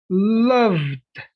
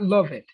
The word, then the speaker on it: loved: Visited, loved, not love it, loved, enjoyed, not enjoy it, studied, not study it. You don't pronounce it that much.